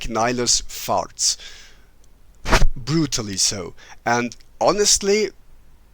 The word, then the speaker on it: Nihilus: So Nihilus is, or Nihilus as they say, would be a more Latin pronunciation, which isn't wrong. It's just a bit weird in an otherwise English song, because in English you'd say Darth Nihilus.